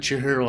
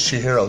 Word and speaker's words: Chihiro: So, you're about to watch a video of me chatting with Chihiro while she draws that super cool thing right up there.